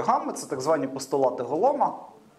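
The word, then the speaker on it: Golomb: Це так звані постулати Голома. Він Голом МБ, але якщо не помиляюся, B не читається.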